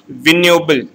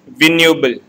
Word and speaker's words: vignoble: Next terms, that is the 17th term, is vignoble. Here the G word is silent. It is vignoble.